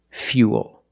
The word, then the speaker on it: fuel: one's a little different we're going to use the e sound F fuel not fo but fuel we have the same long oo sound after the Y so it's U plus the dark L Fuel fuel not